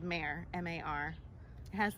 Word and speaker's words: Mar: Because I was so upset that they were getting my name wrong. Names are important. They really are. Wow. I also really like being called Mare, M-A-R.